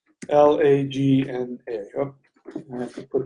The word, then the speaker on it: lagna: In Vedic astrology, it is called the lagna. It's spelled L-A-G-N-A.